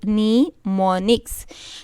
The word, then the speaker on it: mnemonics: In assembly language, machine instructions are replaced with English-like words known as mnemonics, not mnemonics. This word is mnemonics. It is pronounced as mnemonics.